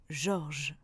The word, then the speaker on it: Georges: Et bien pourtant, le E de je dans un mot ne se prononce pas. Par exemple, je mangerai ou encore je mangeais. Ou alors avec le prénom Georges.